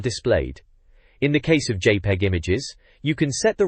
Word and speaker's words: JPEG: JPEG, pronounced JPEG, is the name of a still image compression specification, but here remember it as an image displayed on the internet.